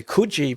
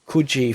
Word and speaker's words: Coogee: and we lived in Coogee for a while. And so I know to pronounce it Coogee. When you come to WA, it's Coogee. They pronounce it right.